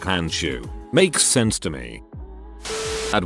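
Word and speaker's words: Handschuh: german word for glove is hansha which is pronounced like hanshu makes sense to me at one point i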